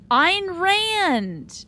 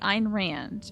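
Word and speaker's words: Ayn Rand: um and here's where I learned how to pronounce that author's name I Ein Rand okay Ein Rand and rice didn't I write Twilight now that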